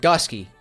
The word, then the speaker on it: gske: And gske, also pronounced correctly, because that's how he told me to pronounce it.